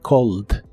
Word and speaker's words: called: Es similar a la forma del presente, solo que aquí se le agrega una ED, aunque no se pronuncia la E, solo la D, called.